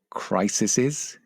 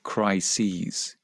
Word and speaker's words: crises: Is it crises? No, it's not. It's crises. So 1 crisis, 2 crises.